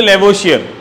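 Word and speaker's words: Lavoisier: The father of chemistry, लेवो, आप एक साथ फ्लो फ्लो में बोले तो लेवोशियर, ठीक है लेवोशियर, मैंने स्पेलिंग को तोड़ के बताया था, ले बो इज ईयर, ले बो इज ईयर, अब एक साथ बोल दोगे तो क्या आ जाएगा, लेवोशियर आ जाएगा।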